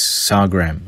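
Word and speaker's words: sargam: remember correctly SAR gram I'm not sure if it's spelt pronounced that way but it's SAR gram I believe and they also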